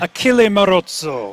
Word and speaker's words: Achille Marozzo: Did I pronounce that correctly, Matt? Achille Marozzo.